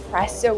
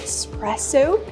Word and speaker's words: espresso: Fr or foed milk the word is not pronounced espresso I cannot say espresso I like espresso drinks it's e espresso we need that vowel I like espresso drinks not espresso drinks example he loves espresso